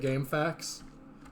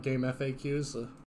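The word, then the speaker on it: GameFAQs: man that great also can we all agree that's how we pronounce it game facts not not game FAQs yes absolutely 100% oh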